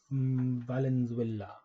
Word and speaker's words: Valenzuela: Elysia Valenzuela. It's like Venezuela, but Yeah, Valenzuela.